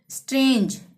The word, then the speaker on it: strange: ठीक है, gender, GENDER, ई आ रहा है ना यहाँ पे भी जी के बाद, जेंडर, ज का ही उच्चारण होगा। स्ट्रेंज, STRANGE, जी के बाद ई आ गया, स्ट्रेंज, ज का उच्चारण।